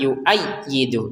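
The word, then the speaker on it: يُؤَيِّدُ: Ya jangan lupa ditekan. Yuayyidu. Jangan sekedar yuayyidu. Yuayyidu ya kita tekan.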